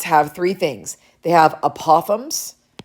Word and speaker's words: apothem: They have apothems right um I've heard some people pronounce it apithem which sounds very British to me. Um so I've always called it an apothems but if you want